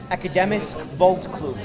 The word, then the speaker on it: Akademisk Boldklub: - Can you pronounce the name of it? - Akademisk Boldklub - Akademisk...